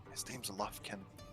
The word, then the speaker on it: Lufkin: Remember, love kin, like love your kin. Oh, but don't say it like that because it's wrong. No, it's like Lovekin.